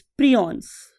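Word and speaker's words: prions: उसका नाम होता है स्टूडेंट्स प्रियॉन्स. बालोग इसे प्रायॉन्स भी बोलते हैं, what ever you want to pronounce.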